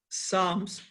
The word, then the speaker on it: Psalm: He said, Bhal Srikhande, he asked, the book of Psalms, commonly referred to simply is Psalms, and it